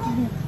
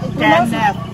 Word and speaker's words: Kenneth: Sa di check ka ng kinit. Ay, say magati pagjuta. Kinit. Mamasa ko yung ganina no. Giuyab daw na ko. Ngano mo pula Lahi ako pasabot ikaw di ka kabalo mo pronounce. Ano makakinit? Kenneth.